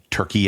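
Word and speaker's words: Türkiye: pronunciation and spelling of the country which is turkey a pronounced t u with an umlaut r-k-i-y-e the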